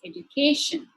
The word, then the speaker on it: education: Likewise, if the suffix is tion, sion, or ic, the stress shifts to the third syllable, which is education, education.